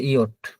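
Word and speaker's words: Jot: ইয়ট, আমরা এটাকে ইংরেজিতে যে বলতাম, কিন্তু এটা হচ্ছে ইয়ট।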